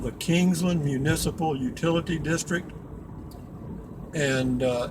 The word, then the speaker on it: Kingsland: uh again this is Kingsland Texas one word k-i-n-g-s-l-a-n-d the people up here just call it Kingsland pronounce it King's land they just kind of bunch it all together and call it Kingsland and uh we've got